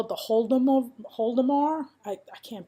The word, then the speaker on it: Holodomor: It is, they call it the Holodomor. I can't pronounce it. Holodomor.